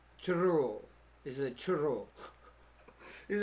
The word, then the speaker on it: churro: Gotta roll the R's, I heard. Churro.